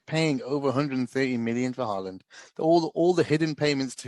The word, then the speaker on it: Haaland: He's more expensive than Erling Haaland that's going to Man City. I don't even know how to pronounce that guy's name.